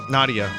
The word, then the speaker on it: Nadia: Nadia. Chrono, where did Princess Nadia disappear? She still may be there. Thank you, Chrono. But who was that girl we found in the canyon? It rhymes with Stadia.